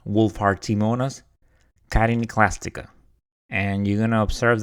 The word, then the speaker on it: Wohlfahrtiimonas chitiniclastica: And you're going to observe that when I started doing the interview, I mispronounced it. I never dealt with this organism before, so my apologies. So it is Wohlfahrtiimonas chitiniclastica.